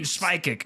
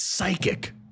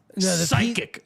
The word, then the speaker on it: psychic: that word even mean schic they're the schic guys Jeremy it's psychic psychic the p is silent Jeremy You misspelled it